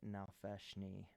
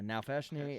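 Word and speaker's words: Nalfeshnee: that as a brand in honor of a now feshni you spell that n-a-l-f-e-s-h-n-e-e I wasn't prepared for you to speak Abyssal I forgot so I'm giving you a specific thing on this uh now fashiony is uh one of the most grotesque demons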